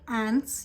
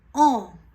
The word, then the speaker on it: ans: Okay, so you will not say ants, you will not say answer. This is mon âge, j'ai 28 ans.